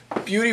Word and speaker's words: Buty: a yeah there we go Caleb Foster from beauty wines down in Walla Wala Washington thank you for being with us today Caleb glad to be here appreciate you coming by yeah cool so Caleb Beauty wines and not b b a u t